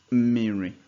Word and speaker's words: mmiri: And mmiri has 3 syllables. So it has mi, ri, water.